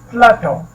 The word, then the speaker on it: plateau: प्लेटो, प्लेटो, इसको प्लेटो पढ़ते हैं, प्लेटो।